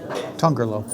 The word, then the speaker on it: Tongerlo: name of this one tongerlo trying to do like a Portuguese pronunciation um tongerlo would be the Dutch pronunciation it's a nice